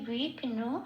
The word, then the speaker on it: বিঘ্ন: আচ্ছা বিঘ্নকে বয়টা বয়সটা প্লাস হিসেবে রিপ্রেজেন্ট করেছি বিঘ্ন এই বিঘ্ন কথাটা একটু ভেঙ্গে নিয়েছি ছন্দের চলন